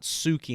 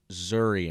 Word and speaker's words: Zuri: Actually, I called them out last week, but I said their name wrong. Not Suki and Pops, it's Zuri and Pops.